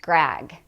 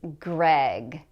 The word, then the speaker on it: Greg: Now notice that this is with the vowel e, Greg. It should not be pronounced Greg. It's Greg.